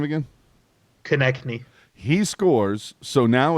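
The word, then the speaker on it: Konecny: But Cossini, that's what it looks like it is. But how do you pronounce it? Konechny.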